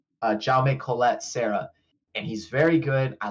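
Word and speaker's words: Jaume Collet-Serra: this director and I had to look up how to say his name and it's j Colette Sarah and he's very good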